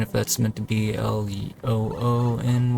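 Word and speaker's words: Lune: I think people usually call her Luna or Luna or something like that. Her name is actually Lon apparently. I can see how somebody would want to pronounce it differently in English because Lon kind of sounds derogatory.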